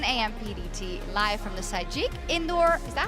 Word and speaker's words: Sajik: PDT, live from the Sajik Indoor, is that how you say it? Sajik, yeah.